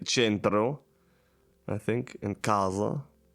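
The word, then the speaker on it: casa: It's not kro or not centro like in Italian you would say centro I think and kaza and this also makes an s sound.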